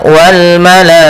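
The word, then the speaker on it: والملائكة: Ini menandakan dia ketika bertemu dengan hamzah pada satu kata kita memakan dengan mad wajib muttasil. Panjangnya 4 harakat. Maka cara membacanya wal malaikah.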